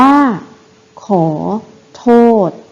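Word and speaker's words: ขอโทษ: ได้ ดัง นี้ ค่ะ คำ ว่า ขอ โทษ นะ คะ อ่าน ว่า ขอ โทษ เห็น ไหม คะ เรา จะ ไม่ เขียน สอ รือ สี ก้าน เขียน คำ อ่าน โนะ การ เขียน เสียง อ่าน เห็น ทำ อ่า เนี่ย เรา จะ เขียน ตัว สะกด ที่ มัน เป็น ตัว สะกด ที่ ตรง ตาม มาตรา เท่า นั้น นะ คะ อ่ะ โน้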